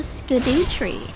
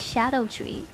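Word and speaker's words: Scadutree: Also, Skidoo Tree. Yeah, that's the thing. Apparently, that's pronounced Shadow Tree.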